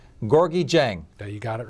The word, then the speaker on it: Gorgui Dieng: to talk about I'm going to try to pronounce this correctly gorgi Jang you got it right he's from Sagal plays